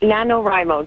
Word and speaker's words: NaNoWriMo: say rimo Remo um Nano rimo just like if you're taking the beginning of each word okay nanoo and so